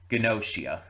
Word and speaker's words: Gnosia: Also, I'm glad that they said it enough times that I I do have the pronunciation down. Gnosia.